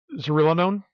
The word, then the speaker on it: zearalenone: It's ZEA, so ZEA. Zearalenone? Oh, there you go.